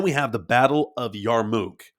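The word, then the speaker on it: Yarmouk: Yarmmuk is what I most commonly heard it said on the internet.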